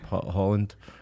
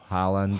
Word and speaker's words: Haaland: He said in Norway we pronounce it like this, but in England we pronounce it like that.